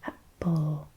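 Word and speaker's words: 八方: Happo. So you've got the little break, the little happo instead of hap, and then the o, happo, which means all sides, all directions.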